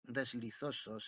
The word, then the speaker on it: deslizosos: La I de deslizosos es como la I de amistosos, y tobos se pronuncia de manera que rime con lodos.